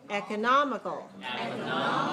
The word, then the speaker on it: economical: Fifth syllable weak. Nomical. Economical. Okay, look at your mouth. Economical.